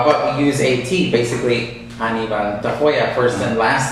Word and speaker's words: Anibal Tafoya: So your full name is pronounced how? So full name Anibal Tafoya.